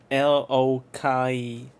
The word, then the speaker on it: Loki: these characters pronounce uh L O Kai I usually know it because of you know the Marvel things as as Loki but in this game they call him they say Lokai.